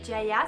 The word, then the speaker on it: Ziaja: Donc cette marque elle s'appelle Jaja, ça s'écrit Z-I-A-J-A. Donc pour ceux qui sont pas bilingues en polonais, ça peut être utile à savoir, on dit Jaja.